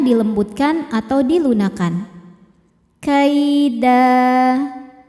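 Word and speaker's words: كَيْدًا: Da jika berhenti hukumnya mad iwad, karena ada harokat tanwin fathah yang diwaqafkan. Cara bacanya tanwinnya diganti dengan bunyi fathah saja ya. Jadi tidak ada bunyi n-nya, lalu panjangkan 2 harokat.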